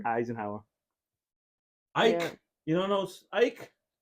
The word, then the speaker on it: Eisenhower: to that how do you say that oh Eisenhower Eisenhower Ike you don't know Ike no I have